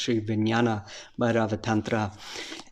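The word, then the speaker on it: Sri Vijnana Bhairava Tantra: to you a little bit about the uh sri vijnana bharava tantra or it should be pronounced shri vinyana by rava tantra and this uh this teaching actually comes from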